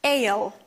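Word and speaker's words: aisle: next one is ayo pay attention to pronunciation of this word ale ale is like a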